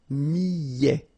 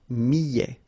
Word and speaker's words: millet: Le millet, here, I, and then double L, so I, millet. A T at the end, open, millet.